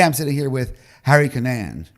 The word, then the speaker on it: Cunnane: So today I'm sitting here with Harry Cunnane, right?